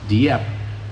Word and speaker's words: Dieppe: Most mispronounced word in the dictionary, just about. Dieppe.